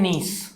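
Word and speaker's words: gneiss: जैसे नीस, स्पेलिंग बड़ी ज़बरदस्त है, GNIESS, और इसे पढ़ते हैं नीस, ठीक है।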